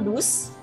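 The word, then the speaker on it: douze: Key kemudian 1212 itu seperti kita mau bilang dus tapi esnya itu ada bunyi z nya dus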